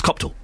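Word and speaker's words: Copthall: say it cop because I thought is it cop cop hall or copall it's neither it's copall and I'm if nothing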